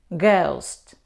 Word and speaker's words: ghost: But when this combination comes at the beginning of the word, we pronounce g. Ghastly, ghost.